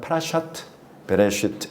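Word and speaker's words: פרשת בראשית: 그래서 1주차 파라샤를 유대식으로 굳이 발음해 본다면 파라샤트 베레시트 이렇게 부릅니다. 파라샤에다가 그 주차의 제목을 딱 붙이면 파라샤가 파라샤트 이렇게 연결형으로 바뀌어요.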